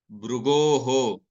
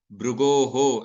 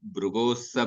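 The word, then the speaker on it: Bhṛguḥ: So brugoho, like that I distinctly pronounce. So because I am giving a gap between brugoho and then and sa. But when I recite the shloka without giving unnecessary break, without giving a more than the natural break, at that time I will not be distinctly pronouncing that visarga.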